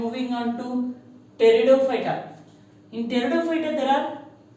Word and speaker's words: Pteridophyta: In Pteridophyta there are 4 types. Psilopsida, P is silent here. Lycopsida, Spinopsida and Pteropsida. Here also P will be silent. Pteropsida.